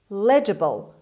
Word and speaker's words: legible: hope london is legible legible the stress is at the beginning legible means able to